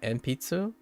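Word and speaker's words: 鉛筆: Wait, is it still pronounced enpitsu?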